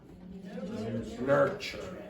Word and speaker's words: nurture: Nurture. Okay, so this TU, this is generally ch.